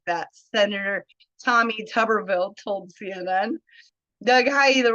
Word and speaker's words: Tuberville: I just wanted to correct you. It's Tubberville. Tuber. What did I say? Tuberville.